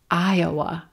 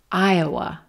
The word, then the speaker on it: Iowa: Iowa, Iowa. White tie, Iowa. Aya, aya. Very quick schwa in that second syllable. Aya, aya, Iowa, Iowa, Iowa.